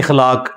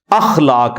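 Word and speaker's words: اخلاق: के साथ होते हैं मसलन यह लोग बोल देते खलाक खलाक लफ्ज नहीं है अखलाक लफ्ज है तो अगर हम यह लज यूज करेंगे तो अलिफ के ऊपर जबर डालेंगे इस तरह इंग्लिश के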